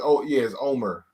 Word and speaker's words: Omer: It's Omer. Is Omer. Oh, okay. Yeah, that's how they say it.